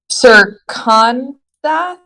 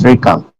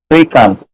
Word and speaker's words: Srikant: I think it's Sirkantha. No, it's Srikant. What? I'm so sorry. Can you repeat that one more time? Srikant.